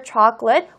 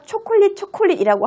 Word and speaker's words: chocolate: chocolate이라는 단어 발음, 여러분 어색하잖아요. 우리가 초콜릿이라고 하는데 그걸 갑자기 chocolate이라고 하면 어색하잖아요.